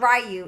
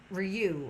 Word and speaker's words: Ryu: It's not Ryu. It's Ryu. I think is how it's pronounced instead of Ryu. So it's. I guess it's almost like I'm saying the name wrong, but I'm not because it's from a Street Fighter character.